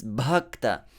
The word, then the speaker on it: bhakta: aspiration the first syllable it's not just bhakta it's bhakta just as when we say bhagavad gita bhagavatam bhagavan all these widely used words in the devotional world we need to learn to pronounce them correctly so the first ba is aspirated one exercise your lungs